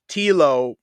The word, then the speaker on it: Telo: So I heard this rumor about Telo rhyming with Hilo, and I wanted to know, because a couple Tank and me talked about it.